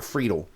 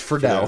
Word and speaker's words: Friedle: It is not Friedle. It's Friedle.